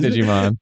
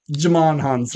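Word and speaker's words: Djimon Hounsou: I know it's not Digimon. Jamon Hansu. Jamon Hansu, yeah.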